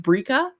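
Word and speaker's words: Birka: Um, pronounced Bria with a roll.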